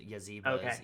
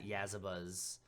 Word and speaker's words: Yasba: Actually, there's actually a Twitter thread that Jay Dragon has put saying that there's multiple different ways to pronounce her name, which is Yaziba's, Yazabas, you know.